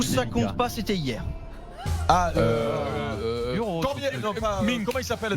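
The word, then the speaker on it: Minc: si on a la bonne réponse, mais qu'on prononce le nom n'importe comment, est-ce que ça compte ou ça compte pas? C'était hier. Mink. Comment il s'appelle? Mink.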